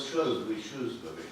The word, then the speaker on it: Shrewsbury: And you get the same with Shrewsbury.